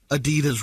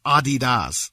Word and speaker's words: adidas: me immediately stop breathing americans pronounce adidas wrong it's adidas no it's not adidas you were making this